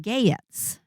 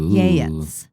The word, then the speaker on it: Geats: But the reader pronounced it Geats, not Yeats.